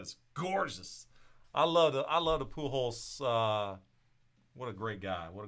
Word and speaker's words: Pujols: Last name rhymes with loopholes. Rhymes with loopholes. It's Albert Pujols.